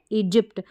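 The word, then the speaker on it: Egypt: ऐसे कर देती हूं ई जिप्ट जी वाई पी टी जिप्ट इजिप्ट क्या है इजिप्ट वाई यहां पर साइलेंट है इजिप्ट में फिर है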